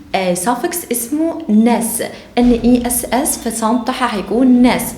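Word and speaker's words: -ness: وصلنا النهارده مع بعض ل سافكس اسمه ناس NESS، فصنطح هيكون ناس بتتنطق كده.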